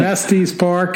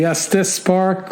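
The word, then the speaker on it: Estes Park: part in there so I've been saying est's Park it's actually Estis Park sorry to all of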